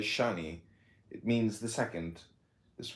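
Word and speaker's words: שני: In Hebrew, too, is S-H-N-I, Shane, and pronounced as Shani.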